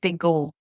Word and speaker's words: Pegau: it P P oh in proval pronunciation or in French pronunciation it's big go I I gave that